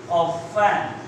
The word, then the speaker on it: often: रुचि, तो that time we use Ruchi singular, रुचि अक्सर सोती है, अक्सर that time we यूज ऑफन, tonight T is silent, Ruchi ऑफन स्लीप्स इन the class, right.